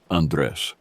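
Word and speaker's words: Andrés: All week she had been pronouncing it with the Spanish pronunciation, Andres, the way my family had always said it. But this voice was using the English pronunciation, flat and sharp in a way that no one in my family ever used.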